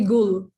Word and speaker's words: Gul: Yeah, you can call me Gul, the first part of the name. That's it's Gul. It's not Gul.